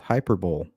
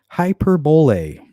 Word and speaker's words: hyperbole: Hyperbole, which I found out the hard way in school, is not pronounced hyperbole. Hyperbole.